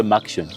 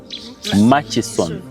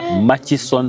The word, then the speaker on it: Murchison: some of you say how do you say that word it's Mas Falls ma maction some of you say maction it's m ma it's machis machon yeah machon FS okay yeah that's the right spelling you all see